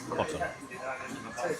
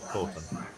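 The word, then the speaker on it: Coton: I am mentioned by Ryan, it's certainly mispronounced Corton, not Cotton. On account of there's only one T, Corton.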